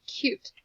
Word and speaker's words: cute: look good at all what do you think would happen if we added an e a silent e to the end of cut what did we make we made cute let's see if that